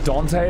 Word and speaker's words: Dante: So, how do I Dante is how you say his name.